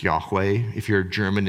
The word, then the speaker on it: Yahweh: Certain traditions don't pronounce it. We do. It's Yahweh.